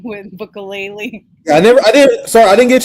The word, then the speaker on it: Bukele: Zoya, how you say it? Bukele. I said so you're Bukelele. just adding ukulele at the end, like ukulele.